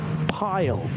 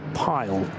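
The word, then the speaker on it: Pijl: would you pronounce that pile I think p i j l and the I and the J in Dutch is often considered to be like the English why so I'm going to say pile I think it's I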